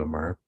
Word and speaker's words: Aamar: and uh have a guest um is it Amar is that how you pronounce it that's right yeah Amar is correct okay uh from London who uh